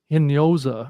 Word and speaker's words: Hinojosa: Yeah, and then the next one over right next to is Maria Hinojosa, I think is the proper pronunciation.